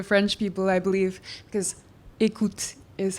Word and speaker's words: Eickhout: rest of the French people, I believe, because écoute is how we tend to pronounce it.